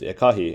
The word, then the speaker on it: ekahi: careful with my pronunciation, is ekahi, in which the stress is actually on the A, so it just does not change at all and stays as ekahi.